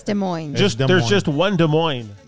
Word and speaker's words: Des Moines: We finish up with Bronco in Des Moines. Hey, the S is silent. No shit. Yeah. No, it's Des Moines. Yeah, it's Des Moines.